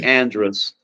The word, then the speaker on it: Andrus: love way you say Andress that ain't right way though no no no Northern Louisiana will say Andress and Southern Louisiana will say Andres is how we pronounce